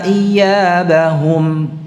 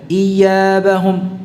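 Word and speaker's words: إيابهم: Pengucapannya tidak diseret iyabahum, tidak pula ditekan berlebihan iyabahum, tidak. Ya, jadi tidak perlu dua-duanya seperti itu. Jadi cukup dibaca dari tengah lidah ya.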